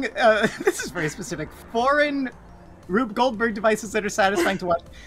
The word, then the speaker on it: Rube Goldberg: This is cool because it's like a Rube Goldberg.